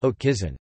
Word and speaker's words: haute cuisine: Haute cuisine, pronounced haute cuisine, high cuisine, has foundations during the 17th century with a chef named La Varenne.